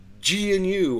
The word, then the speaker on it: GNU: All of a sudden now we all have to pronounce the G because it's GNU or whatever the deal is.